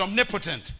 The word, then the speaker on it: omnipotent: one more time and write the word potent right next to it and you create a new word it's the word Omni poent we pronounce it omnipotent it's the name God